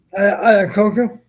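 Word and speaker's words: Iacocca: While at SMU, did Hayden buy the first Ford Mustang off uh how do you pronounce that last name, Don? Ayakoka.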